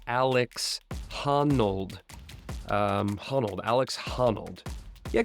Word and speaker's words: Alex Honnold: featuring a young up-and-comer by the name of Alec harnold sorry just um was reading my notes wrong there it is pronounced Alex hanold um honold Alex hanold yeah keep an eye